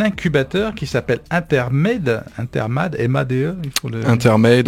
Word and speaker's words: Intermade: Intermade, on le prononce à l'anglaise.